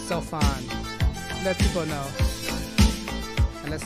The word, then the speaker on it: Sophon: The PH pronounced with F. So it's Sophon.